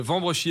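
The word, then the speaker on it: Wambrechies: Voilà, vous êtes né dans le nord euh à Vambréchi, c'est ça ? Wouh ! Vous avez tenté de le prononcer. Il s'appelle Vambrechi effectivement.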